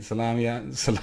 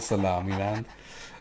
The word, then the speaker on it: Somaliland: Somali is how you spell it. Somaliland, yeah, so okay, Somaliland, not Salamiland.